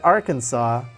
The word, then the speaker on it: Arkansas: they're animated though so I pronounce that Arkansas but it looks like our Kansas and I don't really